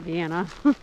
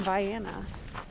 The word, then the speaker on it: Vienna: We're about 2 miles from Vienna, and it is called Vienna, not Vienna, even though it's spelled Vienna. Just because I think I should mention that.